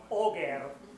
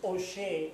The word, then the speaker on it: Auger: So this is not pronounced Auger, it's pronounced Auger. It's a French word, a French name.